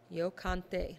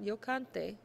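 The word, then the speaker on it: canté: or I did sing notice the pronunciation and the accent mark in the written word yante not yante you have to put the emphasis on the accented syllable and you have to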